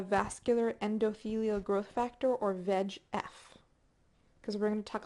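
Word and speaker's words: VEGF: regards to cancer so veg f is the liand and we have a veg F receptor and yes that is actually how it's pronounced V like veg like vegetable so if you'd like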